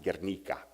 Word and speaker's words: Guernica: famously and infamously are treated by Picasso in Guernica more from it more appropriately pronounced Guernica and it also happened in Madrid fortunately this